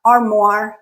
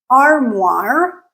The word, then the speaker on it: armoire: All three of these words, noir, armoire, and memoir, are derived from French, and hence they follow French pronunciation roots. And in French, O-I-R make the OR sound. Okay? So memoir, armoire, noir.